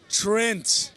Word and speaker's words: Trent: Trent. Don't get it wrong. You got to pronounce the T's there.